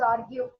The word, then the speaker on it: argue: No, no, you should not pronounce this particular word as arg. It should be pronounced as argue.